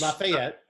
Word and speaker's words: LaFayette: it's called uh l-a-f-a-y-e-t-t-e which lafayette right but that's not if you're from there from georgia it's lafayette we're from lafayette and uh but again it's a hundred percent a regional pronunciation right and if you say lafayette it's wrong because it's lafayette right whoever the natives say it that's the right way i mean my wife